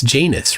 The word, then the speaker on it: Janus: I get it, but I don't pronounce it with a long A. It's Janus, right?